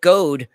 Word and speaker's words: Goad: Mike Goad rhymes with toad.